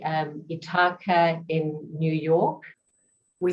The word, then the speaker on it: Ithaca: is from if i've got it correctly um itaka in new york we say ithaca ithaca new york okay excellent thank you for that and i do pronounce my name as as in say